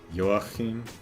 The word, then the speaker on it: Joachim: Stress is on the second syllable. Joachim.